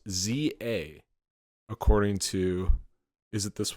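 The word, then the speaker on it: Z-A: they always like pronounce these it's a it's pronounced Za according to is it this one can't really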